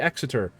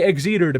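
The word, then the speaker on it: Exeter: Like there's some tier five cruisers that I really enjoy like the uh the exiter. I was going to say exter piss you guys off, but I'll say it properly. The exiter.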